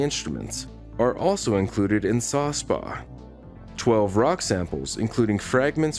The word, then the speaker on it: SA/SPaH: The Sample Acquisition, Processing, and Handling, SASPAH, pronounced SASPA, system, a collection of devices gives Curiosity unheard-of capabilities for interfacing with the Martian surface.